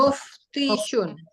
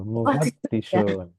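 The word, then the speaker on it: مفتش: Fa dulu baru ta. Muftishun. Salah. Ada tasdidnya. Mufatishun. Itu baru. Mufattishun.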